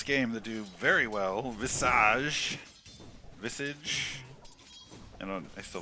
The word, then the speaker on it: Visage: Visage is nice uh let's go with the French pronunciation and call it Visage oh we have fun